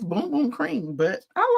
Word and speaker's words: Bum: I remember talking about it a couple of years back, and I would say bum, and everybody would say, no, it's boom. And they phonetically spelled it out for me.